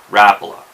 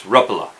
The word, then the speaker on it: Rapala: states I believe most of us have been mispronouncing Rapala it's not Rapala that's how I always pronounced it it's according to parity it's repla and you know I've heard guys you know